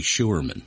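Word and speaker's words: Scheurman: And and by the her last name is Sherman, but it's spelled S C H E U R M A N. It's actually Sherman.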